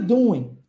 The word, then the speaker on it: doing: are What are you doing repare que esse G no final nós não pronunciamos então doing para no no n